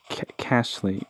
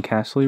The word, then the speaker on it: Kasli: reveal okay ritual saint casly can't count hold on wait wait have i been saying castley wrong cass lee no i'm not saying it wrong okay having at last